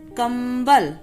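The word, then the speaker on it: कंबल: So we will pronounce it kambal, ma ka sound आएगा, ma sound will come, kambal.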